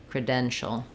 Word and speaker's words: credential: about the word credential so for credential we have second syllable stress which means cre is going to sound like it's going to be very short with a reduced vowel you'll see it like